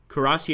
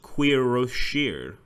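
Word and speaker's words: cuirassier: Kurasi is pronounced Quiroshir. Really? Quiroshir? I would have never guessed. Quiroshir. I've always thought Kurasi.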